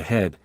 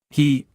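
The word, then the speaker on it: 呵: He, pronounced like her with a yawn, which is associated with the heart.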